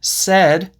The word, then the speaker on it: said: And said also has a short e sound. It's not said, it's said.